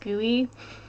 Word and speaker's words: GUI: interface graphical user interface I like that it's pronounced GUI that makes me very happy um a GUI